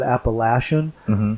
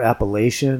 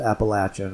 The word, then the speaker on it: Appalachian: now in other parts of the country they pronounced that Apple ashen or Appalachian even but here they call it they pronounced an Appalachian and so that's the proper way to pronounce